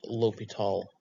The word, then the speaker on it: L'Hôpital: it's the hospital's rule it is still pronounced l'hopital though and so what is